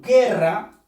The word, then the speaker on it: guerra: Palabras como guerra, la U no ha sonado. Por lo tanto, aquí no creas tú que hay un diptongo. No lo hay. Porque solamente suena la E.